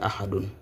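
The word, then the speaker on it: أَحَدٌ: Ici, nous avons A. Là, c'est Ha. Là, c'est Dun. Et la lecture, c'est Ahadun.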